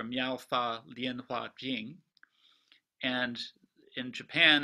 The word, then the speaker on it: 妙法蓮華經: mispronounce this horribly but the chinese characters are miaow lien hua jing and in japan it's